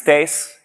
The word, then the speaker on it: Thijs: like to introduce myself my name is tace yes that's how you pronounce that I'm I'm quite used